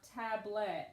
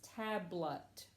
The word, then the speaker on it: tablet: checked my booklet actually this is not tablet its tablet we've more or less say it with a schwa so you need to